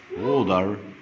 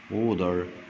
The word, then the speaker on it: water: Water the plants. Water the plants. Water the plants. حرف T ما بين حرفين vowel يتنطقوا دي. Water the plants.